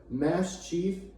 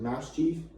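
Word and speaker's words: Maschiff: It's another dog Pokemon, but it's a Mass Chief, because it's like a dog, like a Mastiff, but it's spelled like mischief, like Mass Chief, and it evolves into Mabosstiff.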